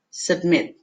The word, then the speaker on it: submit: Não falo su, eu falo s. Submit. E a palavra que a gente tem ali, tiger, tiger.